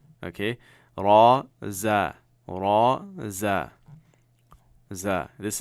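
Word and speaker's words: ر: you are all set now you have a raw raw ok raw now of course it corresponds to our are but it is a little bit heavier raw raw right like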